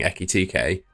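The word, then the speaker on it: Ekitike: going to stay at Liverpool with Liverpool signing Ekkit TK. I'm pretty sure that's how you pronounce it.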